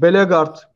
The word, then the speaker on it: Bellegarde: statik yolcu oraya basıyor bellegarde veya begart doğru telaffuzu bulmuş arkadaşlar begart gibi jefferson lerma gibi futbolcu bulması lazım Galatasaray